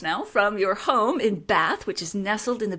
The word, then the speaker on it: Bath: um I should also because I'm obviously English um we pronounce it bath I know that's hard